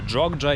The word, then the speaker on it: Джок'якарта: Я приїхав до міста jokя карта або jджа як кажуть місцеві і я досі не розумію чому воно вимовляється як jokя карта коли воно пишеться Ось так каусрфінг тут не спрацював